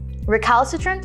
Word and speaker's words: recalcitrant: is an adjective recalcitrant is spelled r-e-c-a-l-c-i-t-r-e-n-t recalcitrant recalcitrant is pronounced ra khalsa trent recalcitrant means resistant to